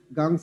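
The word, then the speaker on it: Ganges: Once it ওয়াজ এ ট্রিবিউটরি অফ the mighty গাংস, গাংস হচ্ছে গঙ্গা, গঙ্গাকে ইংলিশে গাংস বলা হয়। আসলে ব্রিটিশরা যেভাবে উচ্চারণ করেছে ঠিক সেভাবেই রেখে দিয়েছে এখনো।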